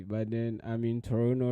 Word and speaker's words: Toronto: my grandmother that's yeah I've seen a t but it's pronounced Toronto anyway yeah so Friday